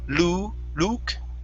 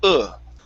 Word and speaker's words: look: This word here, instead of luke, okay, open up your mouth a bit. Instead of an oo sound, it's an look.